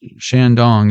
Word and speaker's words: Shandong: I remember this one cuz Shandong is like the only Chinese word that is pronounced the same in English.